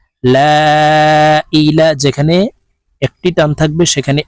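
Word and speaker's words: لا إله: বাংলা উচ্চারণ বলে দিচ্ছি লা ইলাহা যেখানে এই লার পরে টান থাকবে যেখানে তিনটা টান আছে তাই এই লামকে তিন আলিফ টেনে পড়বো লা ইলাহা যেখানে একটি টান থাকবে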